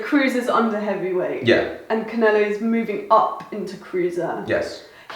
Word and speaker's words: Canelo: How do I pronounce his name again? Canelo.